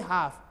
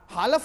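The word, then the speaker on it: half: आगे देखिए, तो WL के वाक, वालक नहीं बोलना, TL के टाक, टालक नहीं बोलना, HLP हाफ, हालफ नहीं बोलना, CULD कुड, कुलट नहीं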